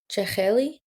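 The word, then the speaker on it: jakheli: How that word is pronounced? Cheli.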